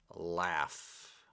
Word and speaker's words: laugh: joke he would laugh pronunciation laugh with an F laugh if you told